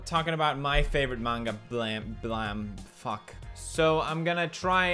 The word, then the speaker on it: Blame!: Blame, or should I say blam? Excuse me, it's pronounced blam after the sound of the gun.